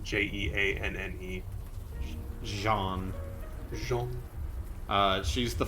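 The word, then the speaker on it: Jeanne: off looking normal who was this again uh it's spelled j-e-a-n-n-e jean jean uh she's the fortune teller and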